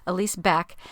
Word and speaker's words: Elise Beck: It's pronounced. I stumbled over it terribly last episode. It's Elise Beck.